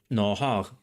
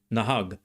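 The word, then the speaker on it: נהג: And you might have noticed a difference in the g or gimel sound at the end. Nahag, nahag. In biblical Hebrew, the letter gimel is another letter that has two allophones, g or gh, a fricativized version of g. The fricativized version actually sounds a bit like Greek to me. Like they read it. Like glosses. Glosses. But, in modern Hebrew, gimel is always pronounced g.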